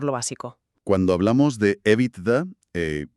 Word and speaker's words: EBITDA: Cuando hablamos de EVITDA, eh, que por cierto lo pronunciamos generalmente con su entonación en inglés, nos referimos a unas